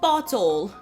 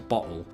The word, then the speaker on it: bottle: Although if I'm speaking quickly, I might put a glottal stop in there, in other words, bottle.